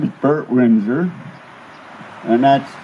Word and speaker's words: Winzer: My name is Bert Winzer, and that's spelled W-I-N-Z-E-R.